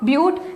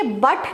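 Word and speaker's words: but-: 2 के लिए एथ, 3 के लिए प्रॉप, ब्यूट। अच्छा, ये बट नहीं है इंग्लिश वाला, दिस इज ब्यूट।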